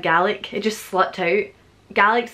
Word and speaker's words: Gaelic: Gaelic's the right way to say Scottish Gaelic, but I said Gaelic.